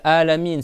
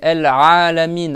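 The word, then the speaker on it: العالمين: samiya ou sami et c'est pas alamine c'est alamine a c'est une lettre d'accord dans la phonétique le petit apostrophe renversé là que j'ai mis là là c'est pour la lettre A c'est une lettre si tu la fais pas la réation elle est pas valable Donc pour réciter bien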